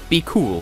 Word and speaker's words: BQL: So yes, we had Light It Up by Mariko Lejava from Georgia, followed by Be Cool, which is spelled BQL.